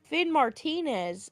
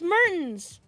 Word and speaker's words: Mertens: And then people would keep pronouncing it in Call of Duty lobbies as Finn Martinez. And I'm like, what are you talking about? Finn Martinez. Where are you getting the Martinez from? It's Mertens. And I don't know.